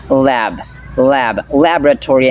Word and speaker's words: laboratory: as you can notice the accent falls in the first syllable lab lab laboratory not on the second BM this pronunciation or